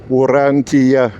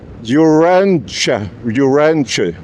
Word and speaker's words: Urantia: So in Lithuanian, we write characters the way we pronounce them. And when we say yeah, we have to write letter J and A, short A. So this is the diphthong, but for you it might be maybe read and pronounced Urantia, or Urantia. So that's why I asked